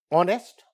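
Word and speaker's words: honest: बट ऑनेस्ट ऑनेस्ट इज not starting with the vowel but this H एच is silent and इट इज a sound vowel like sound an ऑनेस्ट मैन यहां पे हम एन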